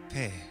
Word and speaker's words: Peh: Peh. Peh is pronounced as a P or an F, like pi or phi in Greek.